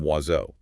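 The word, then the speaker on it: oiseau: As social notes, not one spoken sound is indicated by its own symbol in the written form wazo.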